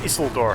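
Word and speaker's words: Isildur: door dies or i'm sorry like i've been pronouncing his name like more learned it's isla door not this is one it's one of the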